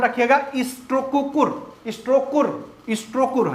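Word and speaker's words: Strokkur: जाता है वो खूब पूछा जाता है एक स्पेलिंग है ध्यान रखिएगा स्ट्रो कुकुर स्टो स्कर स्ट्रोकर है हां ठीक स्ट्रो कुर है स्ट्रोकर गीजर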